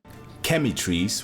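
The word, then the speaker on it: Chematrice: And the next one we got Chemitrice, which kind of sounds like chemistry, which is way better than what I said yesterday, which was Cumatrice.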